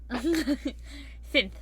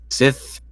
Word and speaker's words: Synth: Synth. I always never say it correctly. Synth. You've never gotten it right. It's either just Sith or like Sin, and that's it.